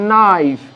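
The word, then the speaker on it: knife: একইভাবে নাইফ, কেটা উজ্জ বা সাইলেন্ট বা নীরব, নট, কে উচ্চারণ হবে না, শুধু এনওটির উচ্চারণ হচ্ছে নট।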